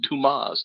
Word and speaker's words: Damas: Damas. Mhm. It's pronounced Dumas.